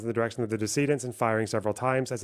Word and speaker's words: decedent: Give me pronunciation. Decedent. Decedent. Oh, because they're dead. Jesus Christ. Of the decedents and firing several times, not the decadents.